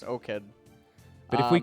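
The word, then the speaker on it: 5Kid: Are we going to call him Skid? Because I have a feeling that that 5 is supposed to be an S. I think it's O-Kid. I know his solo queue ID is O-Kid, yeah. Yeah, so 5 in Korea. Korean is translate. pronounced O. Oh, yeah, that's right. O. So I think it's just O-Kid.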